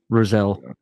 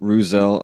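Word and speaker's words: Rousselle: and he's written about Roselle it's Roselle I believe so yeah I know it's spelled r o u SS e l l e I believe rousel yeah I mean something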